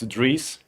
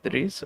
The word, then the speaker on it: Dries: Now I know how to say it. It's Dries. Yeah, Dries.